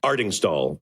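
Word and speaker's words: Artingstall: Yeah, pronounce it again. Ardingstall.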